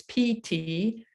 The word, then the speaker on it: Ptolemy: Alexander's generals, including a man named Ptolemy, you've seen this spelled before with a P, it's Ptolemy.